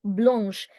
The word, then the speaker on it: blanche: Blanc, blanche. Pronunciation, blanche.